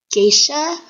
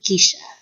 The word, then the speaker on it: geisha: want to mention that the word gisha how most of a say is actually pronounced gisha captivating the world with